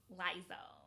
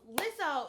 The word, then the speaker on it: Lizzo: Mostly so I can make up for all the times I mispronounced her name as Lizzo. Ooh, my tongue is drunk. So sorry. But also because Lizzo is something special.